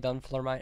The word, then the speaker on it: Dunfermline: That's how you say it, Dunfermline.